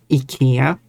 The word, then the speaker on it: IKEA: like as I said the Swedish name is Ika.